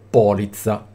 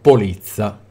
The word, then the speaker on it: polizza: e non scrivermi Mh oppure polizza e non polizza anche se ci sono due vedete ovviamente ci sono